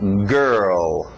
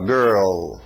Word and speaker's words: girl: Vamos lá então, girl, fecha esse L no final, girl, ok? girl.